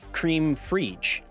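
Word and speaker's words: crème fraîche: Oh, it's pronounced cream frige.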